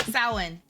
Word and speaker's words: Samhain: How is it actually pronounced? I forgot. Samhain.